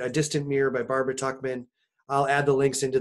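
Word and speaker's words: Tuchman: Prize winning book by Barbara, I believe it's pronounced Tuckman, and it's actually about 14th century France.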